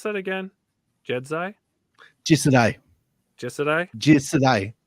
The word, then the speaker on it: Jisedai: How do you pronounce that again? Jisedai? Jisedai.